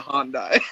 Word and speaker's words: Hyundai: It's a Hyundai.